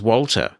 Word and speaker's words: WALTR: You can use Walter for your media management needs. It's spelled WALTR, and that works on Mac and Windows. And it's not intuitively accessible, but it's usable. When you install Walter, what you can do